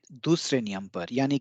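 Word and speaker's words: です: सबसे बेहतरीन उदाहरण है देस। देसु लिखते हैं लेकिन उसका उच्चारण होता है देस।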